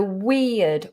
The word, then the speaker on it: weird: i was weird so weird weed weird just think about a long e sound we like we you and i we and then weird weird okay next this is